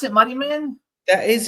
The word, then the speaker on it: Muddiman: Is that how we pronounce it? Muddyman.